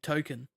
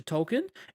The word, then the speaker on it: Tolkien: been calling Tolkien because his name is Tolkien, like J.R.R. Tolkien. Yep. Yeah. And he was named after Tolkien, and it's just been revealed that Stan's been calling him Token, as in the token.